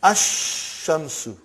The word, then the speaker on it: الشمس: And then Ash-Shamsu.